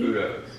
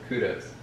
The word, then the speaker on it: Caputo's: Caputo's. That's what I said. You said kudos. No, I didn't. I said Caputo's.